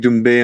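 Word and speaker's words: Doumbè: Is it Dumbbe? Yeah, Cedric Dumbbe and and Sir Gan.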